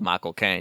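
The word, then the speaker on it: Michael Caine: Kane because I love Michael Kane because if you say his name right it sounds like you're saying my cocaine and the the trailer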